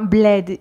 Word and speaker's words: bled: Un bled. Ici, c'est aussi un E ouvert, comme dans mec.